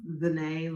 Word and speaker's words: ZeNai: yeah so Zan Zan like Renee with a z just I like to